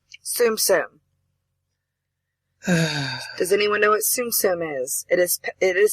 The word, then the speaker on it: Tsum Tsum: hmm my game same does anyone know what Tsum Tsum is it is it is spelled t-s-u-m-t-s-u-m Tsum Tsum okay yeah you go ahead and